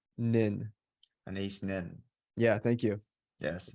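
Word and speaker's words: Anaïs: never know how to say her first name a nice nin an ace nin yeah thank you yes not close you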